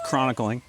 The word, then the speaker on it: chronicling: Chronicling. Chronicling. Yeah, there you go. But there's no extra vowel there. Chronicling. Anyway, it's the L.